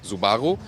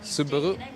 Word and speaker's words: Subaru: By the way, in Germany, we always say 'Zu-ba-guh' And the Japanese original pronunciation is also kind of similar. Like, su-ba-hu But the US pronunciation is more like 'Su-ba-roo' Like, 'kangaroo' Both sound fine to